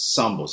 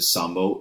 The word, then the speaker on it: zambo: And there are people who are known as zambos. It's not pronounced zambo because in Spanish, of course, the Z makes an S sound. And somebody who's a sambo is a mix of African and indigenous ancestry.